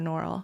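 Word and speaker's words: Norrell: friend Mandy Powers norell how do you say her last name nurel or norell nurel nurel um Mandy Powers norell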